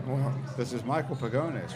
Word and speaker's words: Pagones: Yeah, well- This is Michael Pagones, right? Yeah, that's me. Did I pronounce that correctly? You pronounced it perfectly, actually.